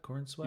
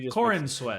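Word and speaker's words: Corenswet: that what I said corn sweat you just said corn sweat you Corin corn and sweat oh Corin sweat we we did so well to start pronouncing his name correctly don't don't regress okay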